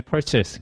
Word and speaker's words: purchase: 우리가 생각하는 그 발음이 아닐 수 있어요. mine 이거 아니고요. chase 이거 아니고 그 다음에 기간틱이라고 있는 친구들이 있는데 요거 아닙니다. 그래서 실제로 이제 얘가 듣기에서는 determine, 그 다음에 purchase, 그 다음에 gigantic 이렇게 이제 발음이 되기 때문에 실제로 보는